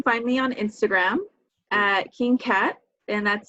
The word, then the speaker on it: Kyngkaht: Okay, so you can find me on Instagram at King Kat, and that's spelled KYNGKAHT. So King Kat.